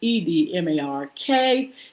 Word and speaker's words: Edmark: It's pronounced Edmark.